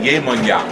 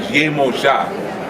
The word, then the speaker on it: Yemoja: In Latin countries, they call it Yemonya. And it's only because they don't pronounce the J's. Okay? But her original name was Yemoja, which is short for Yeye Omo Eja.